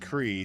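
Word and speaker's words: Kriegh: Last name is pronounced CRE.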